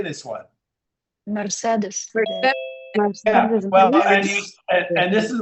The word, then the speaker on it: Mercedes: I just sat in the shower for an hour thinking about how Mercedes has 3 E's and each one of them is pronounced differently.